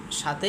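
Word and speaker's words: ث: সায়ের উচ্চারণটা কিভাবে করব আমি বলে দিচ্ছি।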